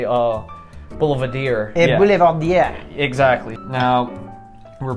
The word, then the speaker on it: Boulevardier: whiskeys that adds layers of complexity to the Boulevardier. Now, if I'm not mistaken, Boulevardier translates somewhat to man who walks around town, socialite. Boulevardier. Boulevardier, yeah. Don't say Boulevardier.